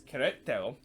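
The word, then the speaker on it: Querétaro: between Queretaro and Atlas, or actually it's Queretaro versus Atlas. I want to pronounce it correctly there.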